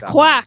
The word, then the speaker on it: Kwak: It's Kwak, not Quack. Yeah. I said Kwak. Kwak brothers.